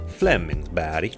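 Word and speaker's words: Flemingsberg: in the stockholm area called flemisburg or as the swedes pronounce it fleming's baddie and that would be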